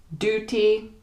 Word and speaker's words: duty: But in the British accent, we are more likely to say something like duty with the U sound. Duty, duty.